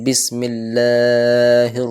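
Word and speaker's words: بسم الله: আলিফ টান রাখবো শুধু আর কেউ কেউ বিসমিল্লাহকে বিকে বে উচ্চারণ করে বিসমিল্লাহ তো কাসরা অর্থাৎ জের আনতে হবে ক্লিয়ারলি বিসমিল্লাহির রাহমানির রাহিম তারপরের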